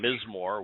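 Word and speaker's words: מזמור: we use the term mismoor which is the proper hebrew term for psalm lyrics to be sung how can he be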